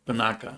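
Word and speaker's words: Panaca: How do you pronounce it? Panaka. Panaka. Yeah.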